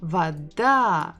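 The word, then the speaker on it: вода: same letter V da Vada we stress this final syllable again if we look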